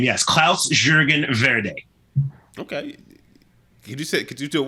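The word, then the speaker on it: Klaus-Jürgen Wrede: Yes, Klaus Jürgen Verde. Okay. Could you do it one more time just because you did it so well? Sure. Klaus Jürgen Verde.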